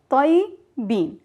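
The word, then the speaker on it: طيّبين: But in the feminine and the plural, we pronounce the ya one time, tayyibe. But we are pronouncing the ya with sukun. That means there's no vowel on the ya. Tayyibe. And the plural, tayyibin.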